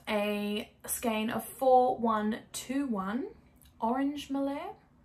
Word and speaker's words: Melert: It's spelled Melert, but I'm pretty damn confident that T is not that T is not actually pronounced. Lisse Beige Melert.